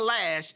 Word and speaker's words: Loesch: Dana Loesch, how do you pronounce her name? Lash. She said, Dana Lash said she doesn't care basically what he did.